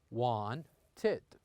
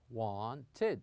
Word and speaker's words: wanted: as of this verb some of them has two syllables like wanted here we pronounce it like this Juan tit one tit but some of them